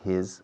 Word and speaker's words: his: Es una I latina que no existe en inglés, en español, perdona. Es una pronunciación de la I latina que no se oye en España.